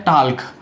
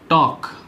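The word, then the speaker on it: talk: उसके बाद है टाल्क, बात करने की बात करते हैं हम, टाल्क नहीं होता है, इसको कहते हैं हम टॉक, टॉक कैसे बोलते हैं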